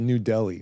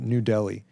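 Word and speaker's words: Nu Delhi: It's called New Delhi, but it's spelled N-U, like new metal. So New Delhi.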